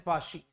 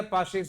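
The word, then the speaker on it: Paasche: वरना बच्चे ऐसे भी, सर पाची, बेटा इज नॉट पाची, इज पाशेस। एग्रीड, इज लस्पाइरिस एंड पाशी। याद रखना, या पाशेस बोलते हैं।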